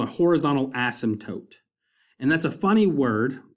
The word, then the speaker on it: asymptote: And then finally, we want to talk about this thing called a horizontal asymptote. And that's a funny word, pronounced asymptote.